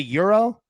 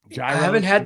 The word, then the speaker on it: gyros: It's Euro or hero.